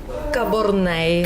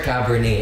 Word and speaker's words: Cabornay: My real name is Cabornay. Cabornay. By the way. Oh my God. Thank you. I still butchered. Sorry. Yung last names talaga yung pinakamahirap parati sa show. It's okay, Gio. I called her Cabernet.